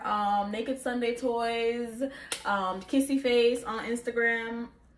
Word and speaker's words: kissyfvce: naked sunday toys um kissy face on instagram kissy face the a is spelled like the a is a v so it's k-i-s-s-y f-v-c-e um jamaican bae but